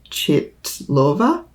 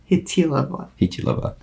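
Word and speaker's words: Chytilová: Vera Chitlova Hilova. It's a soft T. Yeah. Hitilova.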